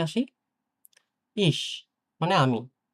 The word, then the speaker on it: ich: তো এটা হচ্ছে ইস।